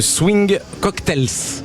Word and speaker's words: Swing Cocktails: Vous êtes chanteuse, compositrice et arrangeuse de Swing Cocktails. Il y a il y a un S à la fin donc il faut que je le dise. On le prononce pas mais comme ça on le sait.